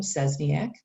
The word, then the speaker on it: Szczesniak: the page here you can see my name zesniak now everything official within the tech world and email you have to use my whole last name cesniak but i do tell the students just call